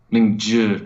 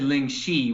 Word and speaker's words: Lingzhi: Lingzhi. Oh, that's like a mushroom. Okay, so you said Ling Shi, which would be XI. ZHI would be Lingzhi.